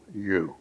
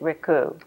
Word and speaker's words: Ricou: My name is Ricou, and spell it by Ricou. Okay, and so you pronounce it Ricou. Ricou.